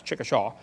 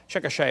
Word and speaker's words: Chickasha: 30 years old a five textbook and I pronounced it wrong as Chickasha nots Chickasaw Chickasha Oklahoma I got corrected during the break um